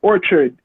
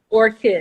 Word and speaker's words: Orchid: I'm gonna ask you where the name Black, or let me say it properly, Orchid or Orchard come from? Orchid.